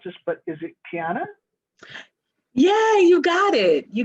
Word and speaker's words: Quiana: here um and um i'm afraid i'm gonna mispronounce this but is it piana yeah you got it you got it all right i'll hand it to you then so my name's kiana i live i'm physically located in ann